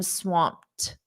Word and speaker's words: swamped: At the end, it's a very soft T. I'm swamped.